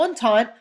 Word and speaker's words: Entente: You have the Triple Entente, which rhymes with croissant, which is how you know it's the one with France.